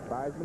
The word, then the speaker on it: Theismann: As Joe Theismann went to Notre Dame, had to rhyme with Heisman, so they changed it to Theismann. Theismann and Heisman.